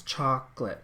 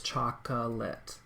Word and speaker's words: chocolate: we speak in English we say chocolate which has like two sounds chocolate okay and just teacher moment I know that some people do it with three syllables chocolate like a kindergarten teacher might teach a child to cab ify that way I do not agree with that because no like nowhere